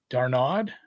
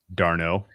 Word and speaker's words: d'Arnaud: sack fly, and now Darnaud. It's like one of the Musketeers. This guy's name. D'Arnaud. D'Artagnan. D'Arnaud. D'Artagnan. Yeah, I know how to say. So the last D is silent.